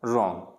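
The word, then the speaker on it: wrong: अगर आर से पहले डब्लू है तो भी डब्लू क्या रहेगा, साइलेंट रहेगा। किससे पहले, आर से पहले, तो डब्लू क्या हो जाता है, साइलेंट हो जाता है। इसको रॉन्ग नहीं पढ़ेंगे, रॉन्ग, राइट, रिस्ट, अब देखो डब्लू क्या है, प्रोनाउंस नहीं किया जा रहा, तो यहाँ पे इसको पढ़ेंगे रिस्ट, राइट और रॉन्ग।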